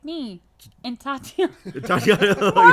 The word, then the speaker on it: Tatiana: No, Titania Maslany. I had to look her name up because I have a hard time pronouncing it. Let me see it. Titania Maslany, because she plays She-Hulk. Tatiana.